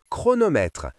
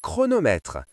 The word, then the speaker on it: chronomètre: Les lettres ch ensemble font parfois le son que dans certains mots comme orchestre, chronomètre, technologie. Que comme dans orchestre, lisons ensemble. Que orchestre ? Que comme dans chronomètre. Lisons ensemble que chronomètre.